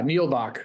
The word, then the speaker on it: Nebach: um so this fellow Carlos nebach is that how you say it yeah nebach that's correct nebach um he's someone